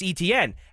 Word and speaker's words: Etienne: Travis Etienne, as would most people, even the Jacksonville Jaguars, who put in their media guide that E-T-N is how you're supposed to phonetically is how you're supposed to pronounce his name.